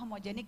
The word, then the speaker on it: HMGNC: di Wikipedia-nya kita benerin kita jelasin ini tetap dibacanya homogenik loh gitu tapi ada untungnya sih